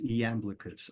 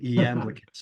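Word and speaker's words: Iamblichus: sort of um you know spiritual theurgic is eamus on the Mysteries right this is available this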